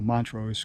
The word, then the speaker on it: Montrose: I went about 50, 60 miles north up to Montrose because they had a Verizon store.